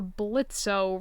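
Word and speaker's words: Blitzø: ask before but you're blitzo right it's pronounced Blitz now he said swiftly almost mechanically as if he had to correct people every single day the O is silent without looking Blitz reached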